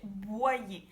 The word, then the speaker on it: Boyer: Pero en francés es Angélique Boyer. Cuando ves la combinación de O-Y más otra vocal hace el sonido Y. Boyer o también en la palabra voyage. Voyage, Boyer.